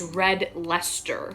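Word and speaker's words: Red Leicester: the same way so that's why i'm actually pronouncing this cheese as red lester because i think that is how um british people pronounce it okay yeah i don't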